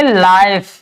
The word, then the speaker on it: life: और एफ से फ, और ई का कभी भी हम उच्चारण नहीं करते हैं। जब भी किसी भी शब्द में लास्ट में ई आता है तो हम उसका उच्चारण कभी भी नहीं करते, ठीक है, वो साइलेंट रहती है। तो इसको हम पढ़ेंगे लाइफ, KITE, यानी के से